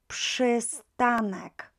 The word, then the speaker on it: przystanek: PRZ will be always, always pronounced as PSH, PSH. So additionally, we've got here, przy, przystanek, przystanek. So don't try przy, right? This is not how we pronounce it, przy. Those of you who know